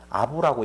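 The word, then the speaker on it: אב: 알렙베이트라고 하고 쓰고 아부라고 읽는데 그것을 파자해서 설명을 해보면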